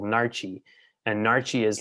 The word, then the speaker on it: Naartjie: It was called Narchi, and Narchi is like it's like a mandarin orange.